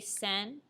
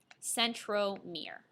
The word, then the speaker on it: centromere: name it's called a centromere and the great thing about this term is that centromere sounds like the word Center so if you even